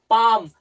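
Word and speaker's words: palm: তাহলে এরকম যুক্ত শব্দগুলোকে আমরা এল উচ্চারণ করি না।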